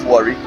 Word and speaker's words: Warri: In their own tongue, they pronounce it Wari, which in the spelling you still see it's very clear, kind of.